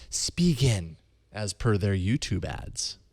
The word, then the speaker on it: Spigen: So their ads pronounce it Spigen. Yeah. In the U.S., we say it differently. Spigen. Okay. I don't know. It's still going to be really hard for me to change that from Spigen to Spigen. It's spelt Spigen, so of course you'd say it that way.